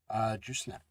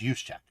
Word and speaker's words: Juszczyk: Kyle, Jusnek. Oh, God. 49ers fullback. I never can pronounce his name. We'll just go Kyle. Good old Kyle. So, congratulations. Ronnie B. for the 49ers. Juszczyk. I think it's Juszczyk.